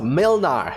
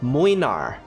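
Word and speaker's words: Młynar: are actually polish so his name is not pronounced Milner if's name is pronounced more like moinar and her name here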